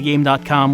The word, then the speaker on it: Game.com: actually used a game it's pronounced gamecom well I mean the dot might be silent but that's not how it is these days you pronounce the dot um so I've never